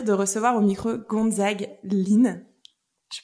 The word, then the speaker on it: Hlyn: Aujourd'hui, j'ai le plaisir de recevoir au micro Gonzague Lin. Je prononce bien.